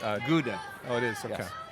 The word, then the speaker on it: Gouda: you good to see you what's the correct pronunciation of Gio UDA Gouda Gouda cheese hi good to see you mrs.